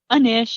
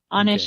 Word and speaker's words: Anish: Is it pronounced Anish? Anish is how I pronounce it, but Anish is fine too.